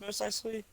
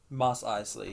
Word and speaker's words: Mos Eisley: Is it pronounced Most Eisley? Mos Eisley, yeah.